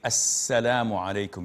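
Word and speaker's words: السلام عليكم: When you say assalamu alaikum, you have to say assalamu alaikum. You can't say salam alaikum, salam alaikum.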